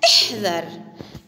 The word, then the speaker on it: احذر: هنا كلمة احذر، احذر، احذر، هذه هي كلمة احذر. هنا سنبدأ بهمزة الوصل. هنا كلمة احذر، احذر. هنا الهمزة تكتب ولا تلفظ، احذر، احذر، انتبه إليها.